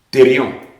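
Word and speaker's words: thērion: mot que celui qui est traduit par bête, thérion, T-H-E-R-I-O-N, au chapitre 11, 13 et 17 d'Apocalypse.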